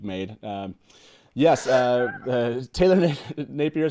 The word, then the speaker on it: Napier: let me welcome to the show taylor nat napier i said nephew taylor thank you very much